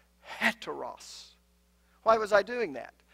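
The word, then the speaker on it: ἕτερος: you were pronouncing it Anna Ross no no no I was pronouncing it with the H sound had to Russ why was I doing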